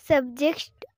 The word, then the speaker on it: subjects: My favorite subjects are math and English. ওকে, তোমার কিন্তু একটা উচ্চারণে ভুল হচ্ছে, যেমন তুমি সাবজেক্টস এই যে এসটা টানটা বলতে পারছো না, একটু ঠিক করে বলতে হবে।